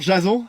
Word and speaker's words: Jason: Bonjour, Jason. Ouais, ça se prononce plutôt Jason comme à l'américaine.